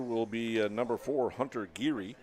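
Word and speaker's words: Giere: be number four Hunter giri spells his name g i e r e pronounced giri for Sam Chase he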